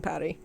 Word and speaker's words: Paris: Unless I'm actually visiting France, nobody cares that we pronounce the S in Paris.